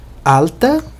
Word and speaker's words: alta: Alta, o significado está evidente, só a pronúncia aqui é diferente, o L, né? O L tem que ser pronunciado direitinho.